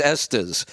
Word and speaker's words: Estes: says tell Kevin to stop saying SS it's est's I'm like oh all